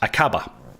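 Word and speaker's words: Aqaba: Mangash, it's pronounced Akaba.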